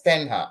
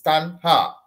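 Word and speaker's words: taṇhā: this is not uh this is not pronounced as ten ha this is stanha like in the Thunder okay so Tanda literally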